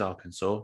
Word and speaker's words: Arkansas: can hear that yeah arcane arkansas it is arkansas arkansas or kansas yeah so we'll go ahead